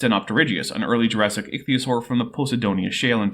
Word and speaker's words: ichthyosaur: an ichio sore huh so I'm actually not all that picky about pronouncing scientific names my rule of thumb is give every consonant and vowel a reasonable pronunciation and don't skip any of them this is an ichthyosaur